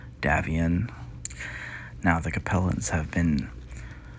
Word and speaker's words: Davion: little bit um house davian or as one of our watchers or subscribers has mentioned is pronounced more like davion now the compellents have